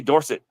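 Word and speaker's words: Dorsett: got to the pros he says pronounce it Dorset yes yeah his dad was dors everybody else in his family was Dorset but he wanted to be Dorset she's trying to Blacky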